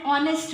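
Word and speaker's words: honest: ही इज़ एन ऑनेस्ट मैन, यहाँ H silent है इसलिए, और यहाँ ए भी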